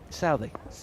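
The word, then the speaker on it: Southee: Southey.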